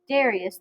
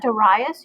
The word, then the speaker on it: Darius: far to actually see Darius the King I'm some people call that de Reyes you may hear that pronounced that way in other places so that is him